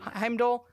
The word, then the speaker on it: Heimdall: finds out that Heimdall is that how you pronounce his name yeah Heimdall Heimdall Heimdall Idis Elba he's he's gone and Odin